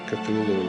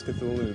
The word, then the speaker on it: Cthulhu: Uh and so finally in a letter of 1934, he tells a colleague, well, it's really meant to be two syllables.